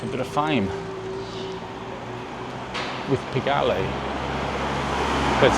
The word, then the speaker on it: Pigalle: It's a bit of fame with Pigalle. That's how you pronounce it.